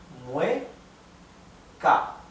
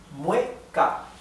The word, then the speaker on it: mueca: So the weak vowel needs to stay together with the strong vowel. Mueca. Mueca. So we separate this in 2 syllables only.